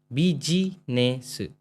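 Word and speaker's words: ビジネス: बाद आएगा ने ऐसे होता है ने स बी जी ने स है ना बी जी ने स बिजनेस क्लियर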